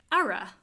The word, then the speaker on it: ara: Ara. A-R-A. Ara. Ara? Ara. Flatten your A. Ara. Not aura.